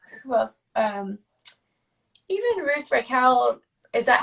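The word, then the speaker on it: Reichl: Even Ruth Raquel. Is that how I say her name properly? Raquel. Reichel.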